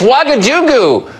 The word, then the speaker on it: Ouagadougou: I don't know if I can pronounce it. I don't know. It's Ouagadougou.